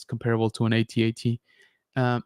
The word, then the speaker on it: AT-AT: It's comparable to an AT-AT. Yes, it's pronounced ATAT. I don't care what you say.